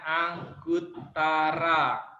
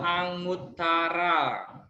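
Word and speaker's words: Aṅguttara: para coba hangout tara-tara dibacanya angkut Tarra atau anguttara kan ini Ang Ang good Tarra bacaan Utara Oke sudah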